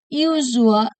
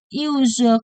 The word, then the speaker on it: usual: Let me pronounce the words usual correctly. Break it up 3 syllables. Usual or second syllable. Usual. Push your hand and feel the vibration of the second of usual.